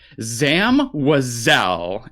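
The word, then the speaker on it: Zam Wesell: How do you pronounce her name? Zam WEHsell, and I will die on that hill.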